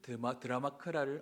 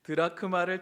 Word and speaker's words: 드라크마: 그리고 이런 드라마크라를 아 발음이라 안 되죠. 우리 오랜만에 오신 분들을 위해서 긴장했는 겁니다. 드라크마를 찾은 여인 비유.